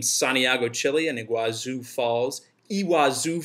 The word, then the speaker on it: Iguazu: Chile and Iguazu Falls iwa Zoo Falls as they pronounce it in Argentina and we're still on